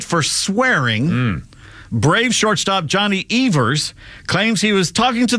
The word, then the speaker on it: Evers: got a three-day suspension Everest a chance his name was Evers yeah we've always mispronounced that Tinkers to Everest takers to Everest Achievers